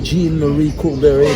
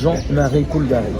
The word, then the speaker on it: Jean-Marie Coulbary: In English, people will call me Jean-Marie Coulbary, but it doesn't sound well. The French pronunciation is Jean-Marie Coulbary.